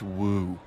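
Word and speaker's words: wewe: Woo? Who is Woo. using that word? It was just W-E-W-E. Let's call it a woo.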